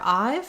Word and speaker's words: I've: So for I've, think about I've been doing that, I've had enough, I've wanted to for a long time. And if it helps you to think of the I and the V sound this way, you can. I'll also write it with the IPA, I've.